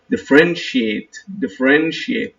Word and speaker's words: differentiate: differentiate, please notice the T-I-A-T-E, we pronounce it shiate.